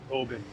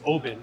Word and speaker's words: Oban: We headed towards Oban. I've heard of this. Yes, it is Oban, not Oban.